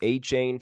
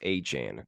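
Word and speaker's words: Achane: a Chan now it's it's been pronounced a chain for a while the rookie running back for the Dolphins but I guess he came out of the game says it's pronounced a Chan Devon a Chan rookie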